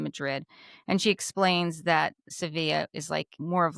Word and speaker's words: Sevilla: But we have now learned that it is not pronounced Seville. If you are from Spain, which Alexia is from Spain, well, she's spent many years in Spain, it's pronounced Sevilla. Sevilla.